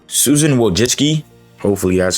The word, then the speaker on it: Wojcicki: Also, this is all over the place, but YouTube ex-CEO Susan Wojciechowski, I'm so sorry.